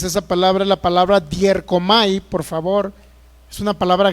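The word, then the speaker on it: διέρχομαι: es una palabra griega, dierkomai. Y esa palabra griega, dierkomai, así como se escucha con D-I-E-R-C-O-M-I, dierkomai es la manera en que más o menos no se traduce, sino se pronuncia.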